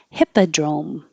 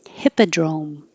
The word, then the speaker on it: hippodrome: hip and heap because the first part of hippodrome is hip and the vowel is it. And if your tongue is too high, it will sound like heap. And so heap, E is like eat, and hip is like it.